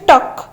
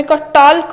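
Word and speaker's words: talk: Next अच्छी टक आम टल्क कहते आम कह टक टक माने कौन कहवा तार एल रोचे साइलेंट।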